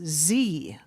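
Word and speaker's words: Ze: of myself and my family, my name is Z and my address is 418 East 2nd Street. I repeat that is Z. That's spelled Z E.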